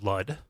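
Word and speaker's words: Lud: is to talk about L which rhymes with crud and the Grays and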